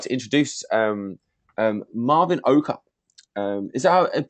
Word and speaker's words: Marvin Oka: so without further ado I'd like to introduce Marvin oka is that pronounce it Marvin is that right yeah well